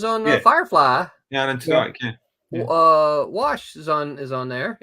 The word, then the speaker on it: Tudyk: Alan Tudyk. Tudyk, can I pronounce that right?